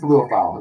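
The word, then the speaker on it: Liufau: Maurice Luafau is what they call him.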